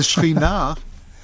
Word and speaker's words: Shekhinah: The Shekhinah, that's how it's pronounced in modern Hebrew.